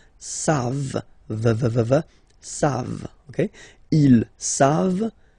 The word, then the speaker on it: savent: Here, classic ending for il and elle at the plural form, E-N-T. You don't pronounce it, so you get the sound savent.